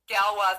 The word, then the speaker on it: Galois: theory representation theory galois theory wait am i pronouncing that right galwa theory oh never mind then anyways understanding the